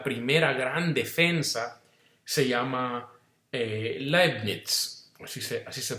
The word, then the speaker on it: Leibniz: hizo como la primera gran defensa, se llama Leibniz, así se pronuncia, Leibniz, que es un filósofo.